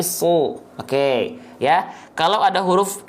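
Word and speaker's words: ص: Ketika berharokat baris atas dibaca bukan sa tapi su.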